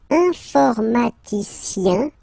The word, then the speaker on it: informaticien: And the last group is IEN, informaticien, yen. So that's the way to pronounce this IEN, yen.